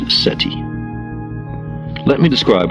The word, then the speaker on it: SETI: search for extraterrestrial intelligence SETI pronounced SETI let me describe how